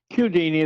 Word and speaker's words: Chiodini: Chiodini is the way he pronounces it.